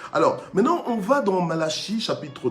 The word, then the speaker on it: Malachie: Malachie, Malaki, ça dépend comment tu prononces. Bon, enfin, moi je dis Malachie, ok?